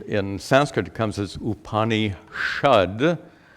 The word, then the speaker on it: Upanishad: Sanskrit it comes as upani shud well there are grammar rules that Force this sa to be pronounced as Shah that's due to grammar rules so the upanishad is formed from two